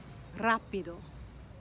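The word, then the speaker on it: rápido: do you say it rapido rapido the a with the accent tells us that that that's a syllable that you're going to emphasize now if you don't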